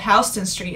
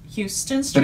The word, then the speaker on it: Houston Street: there's a street called hon street it's not pronounced Houston Street but it's spelled Houston so one of the